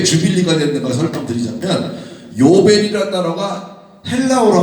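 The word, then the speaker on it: jubilee: 그런데 영어로 넘으면서 이 U 발음을 J 발음으로 했단 말이에요.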